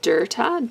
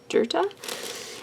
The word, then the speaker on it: Dirta: rocker theme and then I think it's pronounced dirta d RT a dirta um and she has